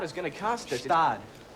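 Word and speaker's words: Gstaad: Christmas in Gestad is gonna cost us. Stad. The G is silent.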